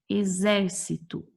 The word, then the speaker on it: exército: Exército. A sílaba mais tônica é o zer. Não é a última, não é a penúltima, é a antepenúltima.